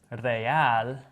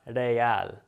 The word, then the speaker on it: real: go if i have this though real notice how it's not real even though that single r and the other word kara was just like one sound here we roll it because it's at the beginning of a word one thing to know